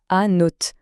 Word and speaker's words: Annot: le nom d'un village, Anneau. Mais attention, pour bien se comprendre dès le début, il y a une petite subtilité. Là-bas, on le prononce à note. On entend bien le t à la fin.